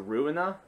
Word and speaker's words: Ruina: It's spelled ruin, but with an A, so Ruina.